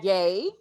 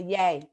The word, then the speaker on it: Ye: And our next special invited guest is Mr. Ye, pronounced like Kanye. Yes. Okay. He's like, what are you doing? Girl, he was shaking so bad. I was trying not to laugh, but that's just Chihuahuas. They be shaking, So And Tana let it be known when I was pronouncing his name incorrectly. Tana let it be known. No, Lisa, yay. Yay, like Kanye.